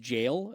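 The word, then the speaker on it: gaol: uh found out that it's pronounced Jail uh even though it's spelled g a o l um it's also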